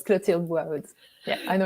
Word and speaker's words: Clotilde: to say yeah but if you can pronounce your name properly for me yes so it's clutiled words yeah i know it's a tricky one